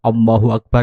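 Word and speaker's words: الله أكبر: yang kita ucapkan maka Hamzah washol tidak dibaca sehingga pengucapan yang benar jika kita mengumandangkan takbir dengan menyambung antara lafadz Allahu Akbar yang pertama yang kedua dan yang ketiga menjadi satu rangkaian adalah sebagai berikut allahu akbar allahu akbar allahu akbar bukan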